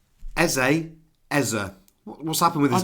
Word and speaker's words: Eze: He's moved to North London and it's now Ez. What's What's happening there? I don't know. But he's come out and said it's Eza.